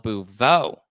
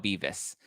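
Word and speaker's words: Beauvais: Housewives of Beverly Hills, Garcelle Bouveau. Is that how you say it? I always want to say Garcelle Beavis, because that's kind of what it looks like. It looks like Beavis, but obviously we don't.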